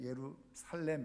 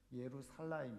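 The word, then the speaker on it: ירושלים: 이런 뜻이고요 여게 전 그 정확하게 발음하면 우리는 예루살렘 이렇게 하지만 살라임 있니다 예루 살라임이 히브리어 대로 읽으면 예루 살라임 이죠 그래서 여기게 이제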